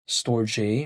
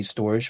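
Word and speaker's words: Storj: like Jasmi, there's Rwave, there's store J, or should I say storage, but then it's spelled like SJ. Sometimes people call it storage, sometimes people call it store J.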